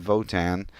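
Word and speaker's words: WOTAN: think for itself it's spelled w Otan they pronounce it Votan and the acronym actually spells out we'll operating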